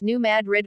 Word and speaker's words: New Madrid: the story of the New Madrid pronounced New Madrid earthquakes but it is